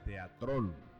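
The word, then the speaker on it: θέατρον: La palabra teatro, de origen griego, que se pronuncia teatrón en griego y significa lugar para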